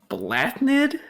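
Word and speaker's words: Bláthnaid: Blathnaid? Blathnaid. No, that is Blathnaid. No, it is. No, it is not. It is Blathnaid. The TH is silent there.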